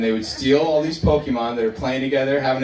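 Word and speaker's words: Pokémon: the 90s was pokemon pokemon i pronounced that properly somebody with pokey man like no pokemon okay and the main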